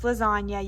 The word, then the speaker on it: lasagna: picture too so like there's lasagna you can see the silent g that's in it um